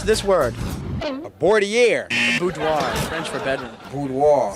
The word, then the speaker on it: boudoir: Pronounce this word. A boudoir.